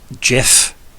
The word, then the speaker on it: GIF: in my opinion and it's still wrong it's GIF if tol can taught me anything everything's a hard G or C oh so okay is